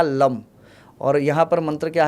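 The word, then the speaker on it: लं: मूलाधार जो है मूलाधार में मंत्र आपको पता हो तो है लम प्रोनाउंसिएशन जो होता है मूलाधार के मंत्र का लम और यहां पर मंत्र क्या है?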